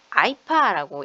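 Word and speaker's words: IEEPA: IEPA 아이파라고 읽더라고요.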